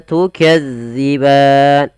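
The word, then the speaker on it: تُكَذِّبَانِ: dalal hati-hati ya teman-teman jangan sampai kita membacanya panjang Maaf bukan panjang menggantinya dengan huruf Zai contoh Bagaimana tukazziban Nah itu diganti Padahal dia tidak boleh yang betul Bagaimana tukadziban bagaimana cara membacanya yaitu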